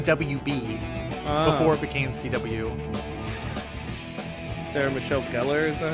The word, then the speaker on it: Sarah Michelle Gellar: Sarah Michelle Gellar, is that how you say her name?